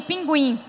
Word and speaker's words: pinguim: símbolo para dizer que na pronúncia o u era escutado Hoje não tem mais